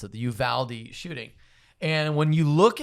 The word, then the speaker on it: Uvalde: i just learned as a proper way to pronounce it the uvalde shooting and when you look at that and